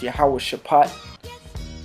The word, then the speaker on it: Jehoshaphat: I'm going to get that word Jehoshaphat real quick. Okay, just for the edification out there to the Aki. It says, which is pronounced Yahweh Shaphat.